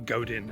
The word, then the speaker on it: Godin: I mean, I love Seth Godin, for example, or Godin as he's pronounced, and I could be reading his stuff here and there, but occasionally I just get bored.